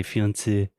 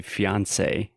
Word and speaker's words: fiancé: A quick note, whenever we have a word that is derived from French, normally we really exaggerate the final vowel sound. So we do not say fiancé, we say fiancé.